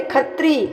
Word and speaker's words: क्षत्रिय: है ना तो वहां पंजाब में क्षत्रिय को छा नहीं छा नहीं बो बोलता है लो छा को छा को छा नहीं बोलता है लो क्यों क्योंकि उच्चारण नहीं निकलता सही तो खा बोलते हैं लो छ को खा बोलते हैं तो छत्री नहीं बोलते खतरी खतरी हो गया छत्री का क्या हो